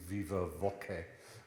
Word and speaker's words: viva voce: It's short for the Latin viva voce, which is a very church Latin way of pronouncing viva voce, i.e.